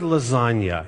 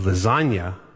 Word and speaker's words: lasagna: silence like lasagna well the word lasagna in English is not pronounced lasagna I don't I think German words almost never have silent letters but in English we have a lot of silent letters and lasagna has a silent G lasagna Little Wayne is